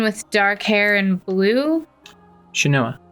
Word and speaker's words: Shanoa: dark hair and blue shinoah shanoa which was order of ecclesia i think is how they say it in the intro okay so i thought